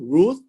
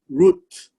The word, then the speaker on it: Ruth: it spells this way r u th and so it's pronounced as r u root and then a t but the t actually ends softly with an h so it's pronounced as root root not the english